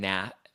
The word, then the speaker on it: Nath: Well, she was on Australia's the Jimmy and Nath show. I almost said Nash, but it's Nath.